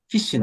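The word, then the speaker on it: phishing: fing but whatever it's called fishing is not feing whatever however people pronounce pronoun fishing spell pH is actually pronounced fishing yes so fish was actually on the rise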